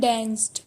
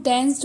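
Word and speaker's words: danced: एंड डांस्ड, इसको हम डांस्ड बोलेंगे, डांस नहीं बोलेंगे। इसका सही प्रोनाउंसिएशन डांस्ड है।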